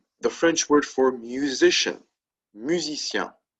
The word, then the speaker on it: musicien: The French word for musician, musicien. Right? Masculine, that's how you say that. Musicien. In the plural, musicien. Right? Again, the pronunciation doesn't change.